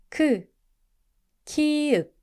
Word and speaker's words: 키읔: 차, 치약, 키읔. Sounds like It's like a strong K, as in king.